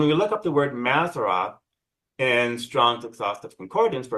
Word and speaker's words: Mazzaroth: The Mazzaroth, um in Hebrew, the pronunciation's actually without the H, so it would be Mazzarot.